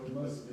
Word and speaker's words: Musco: Okay, Casey, we'll make your way to item 7.2, discuss parks, capital lighting, presentation, Musco, how you pronounce that? Musco. Musco.